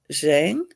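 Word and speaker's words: Giang: person up is hi zhang yeah the g kind of at the first g acts kind of is like a j almost okay i believe it's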